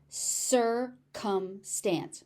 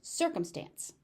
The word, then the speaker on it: circumstance: Notice you've got 3 C's in this word and they're pronounced 2 different ways. So pay attention. C is tricky. Circumstance. Circumstance.